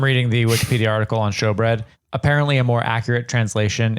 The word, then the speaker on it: showbread: table of bread called showbread. Yeah, I didn't look that up. I should have. Show SHOW. EW. Okay, got it. Hold on, let me click on. But pronounced show.